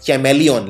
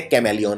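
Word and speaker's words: chameleon: आता है यहाँ पे, तो ये है चैमेलियन। लेकिन चैमेलियन नहीं बोलते, बोलते कैमेलियन है।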